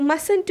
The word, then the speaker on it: mustn't: So whenever we are using shortened form of must not, we don't have to read middle T. It is the silent T. Middle T is silent reading. So mustn't we have to pronounce.